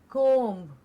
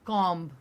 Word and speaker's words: comb: the next one is comb and not comb exactly yeah it's not an o sound o sound cold and